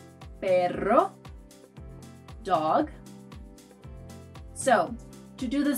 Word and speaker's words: perro: The second sound is called a trill. It's basically a double R, and you'll find it in words like perro, perro, dog.